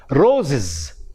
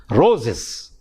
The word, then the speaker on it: roses: To get the plural, we add S to it, but the pronunciation becomes different. The pronunciation of the word is roses, ziz, roses.